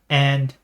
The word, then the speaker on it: へ: the channel KN and okay there's no h and a right when and you might